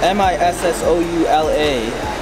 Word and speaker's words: Missoula: Turns out M-I-S-S-O-U-L-A is pronounced Missoula. But it was Missoula.